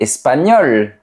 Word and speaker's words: espagnol: Mais il y a certaines lettres qu'on prononce, comme la lettre L. Par exemple, on dit « il est espagnol ».